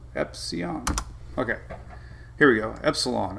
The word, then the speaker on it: Epsilon: Epsilon. Oh, there's an L in it.